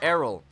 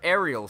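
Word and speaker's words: Aryll: That's our little sister, Errol. I called her Ariel for the longest time. That's not how you spell Ariel, by the way. It is definitely Errol.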